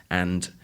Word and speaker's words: and: say we have lots and lots of listeners from Spain but when listening to it carefully you see that the word Lots flows directly onto and and the D of the and isn't pronounced I'll say it again